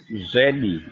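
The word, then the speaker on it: Zvedi: Um my name is Zedi. It's spelled Z V E D I U Zi in Sha is the truth.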